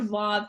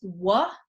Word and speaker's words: Vav: says Yahweh or Yod Vav Hey Vav. Okay, and the Vav, if you know Hebrew, can be pronounced Wa, according to the kind of one set of pronunciations, or more commonly is pronounced va.